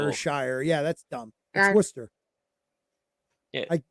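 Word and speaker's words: Worcestershire: w w in Chicago that's worshire sauce you're say I've heard it I've heard it pronounced Shire yeah that's dumb tster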